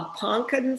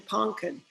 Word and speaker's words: ponkan: So we have blueberry extract, a really funky thing called a it's called a ponkan fruit, not pumpkin, ponkan.